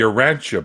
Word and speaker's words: Urantia: How is it pronounced, Neil? The Urantia Book.